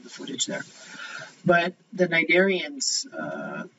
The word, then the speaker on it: cnidaria: Then we're going to move on to the cnidarians.